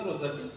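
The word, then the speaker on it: Rossetti: Means Shetty means रोसेटी, तो रोसेटी आ रहा थी प्रोनाउंसिएशन रोसेटी।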